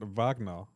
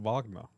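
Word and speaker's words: Wagner: Kirk pronounc it vagna because that's how German is pronounced their W's.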